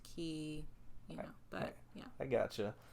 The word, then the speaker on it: Quay: silver key silver key i want to say koi for some reason it does yes it's yes quay it looks like silver quake way is pronounced key yeah but yeah i gotcha all right so